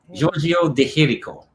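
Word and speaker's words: Giorgio de Chirico: say his name is the hiroko the here giorgio de jericho as giorgio deterico for american people um and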